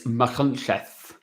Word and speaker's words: Machynlleth: It's Machynlleth. It's a Welsh name, right?